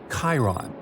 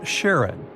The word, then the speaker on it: Charon: Nix, Kerberos, Hydra, and the most mysterious one, Chiron, also pronounced Charon. So you can pronounce it however you like. I'm going to go with Charon.